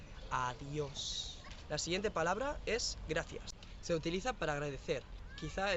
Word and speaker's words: gracias: Le he escrito así en coreano, gracias, pero en verdad se pronuncia gracias. La G se une con ra, gra, y la C suena como el de thank you de inglés.